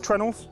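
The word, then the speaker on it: treenail: This ship is held together with trenels um which is spelled tree nail. Uh and that is because it is literally a tree nail.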